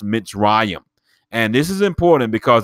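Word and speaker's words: מצרים: the letter mem as well and it is pronounced mitzrayim and this is important because they give us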